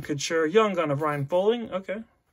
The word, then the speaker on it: Poehling: So we got Shea Weber, Ryan Suter, Look and Couture, Young Gun of Ryan Poehling. Okay. Poehling, yeah. I think it's Poehling. I believe is the correct pronunciation.